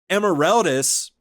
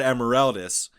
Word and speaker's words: Emeraldas: in the Harlock anime emeraldas is pronounced emeralda often it's very distinctly not emeraldas and uh it's almost